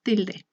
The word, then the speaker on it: tilde: Como ejemplo tenemos la palabra tilde. La penúltima sílaba, que sería til, es la que lleva el acento.